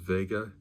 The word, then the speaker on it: Wega: it's we GA and in German I believe that's pronounced Vega so interesting this uh